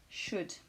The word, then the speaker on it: should: L'énonciateur exprime un conseil grâce au modal should. Je rappelle de ne pas prononcer le L pour should.